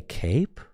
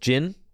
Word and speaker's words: Jin: So I think what we do here, you play Cape? Bro. Not the Cape, dude. It's pronounced Jin. You got it, Jin.